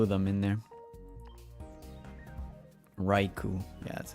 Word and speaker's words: Raikou: Raikou, yeah, that's how you say it, Raikou.